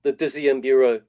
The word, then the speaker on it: Dixième Bureau: How do you pronounce it? It's the Dixième Bureau.